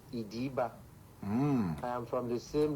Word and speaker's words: Ediba: The community, the name is not Eda. It is pronounced Ida.